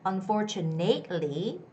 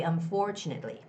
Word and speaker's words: unfortunately: for it's on for it's not two it's more like two like the choo choo train so it's unfortunately unfortunately okay so don't say don't make the mistake of saying unfortunately that's wrong it's gotta be unfortunately unfortunately unfortunately okay hello